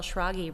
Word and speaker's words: Schrage: started telling people shogy rhymes with froggy because it's not phonetic when you see it no it's not but